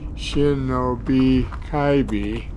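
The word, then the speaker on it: Shinob Kibe: hiking and in some cases running shanab kibbi pronounced Shinobi kaii Trail is One Less Traveled but brings great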